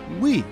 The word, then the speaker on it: Wii: its functionality centered around the use of motion controls the technology was innovative and unique at the time the wii is pronounced as we which emphasized the console is